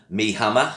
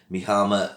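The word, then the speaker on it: Mie Hama: probably not a surprise to fans this uh my least favorite bond girl is me hammer i think i should pronounce it mihama uh kisses suzuki in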